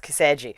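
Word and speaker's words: 寄生獣: But it's like, at least but in Japanese, even the mangas say Parasyte on them, which is pronounced Kiseju.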